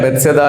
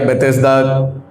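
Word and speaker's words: Bethesda: सबसे पहले तो मैं आपको यह बताना चाहता हूं ये जो वर्ड है बेसदा या बेतेसदा जैसे मर्जी आप इसको प्रोनाउंस कर लीजिए।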